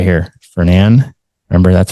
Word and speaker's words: Fernan: Fernand. Remember, that's how we pronounce it. Fernand Rod and Gun Club.